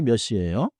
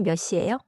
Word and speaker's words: 몇 시: Today's phrase 끝나는 시간이 몇 시예요? is a little more noun focused and good for schedules. If you are asking staff or confirming a schedule, 끝나는 시간이 몇 시예요?